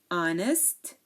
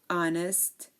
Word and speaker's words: honest: chef chef okay so there are a few words that start with silent h like and hair honest air honest honor and hour so again um these are words that start with a silent h air honest our and honor okay so in American